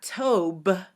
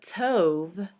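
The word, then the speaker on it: טוב: This is also why our word tov, which means good, is not tob, but tov, because the bait that's at the end of the word tov will not have a dagesh in it because the bait is at the end of the word, so it would be a vait.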